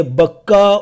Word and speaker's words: بکہ: جو مکہ میں ہے۔ یہ بکہ اور مکہ ایک ہی لفظ کے دو تلفظ ہیں، پروننسیشنز ہیں۔ مبارکوں و ہدی للعالمین،